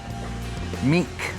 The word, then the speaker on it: mink: Is it mint or is it meek? Mink. What is meek? Mink condition. How do you spell that? That's how Andy Crandall called it. He called it mink condition. Like I'd say M-E-E-K? mink, M-I-N-K, mink.